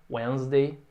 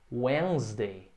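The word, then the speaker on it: Wednesday: da semana com meu primeiro exemplo com quarta-feira wesley esse de não é pronunciado repete comigo wesley é isso primeira silo é o and easy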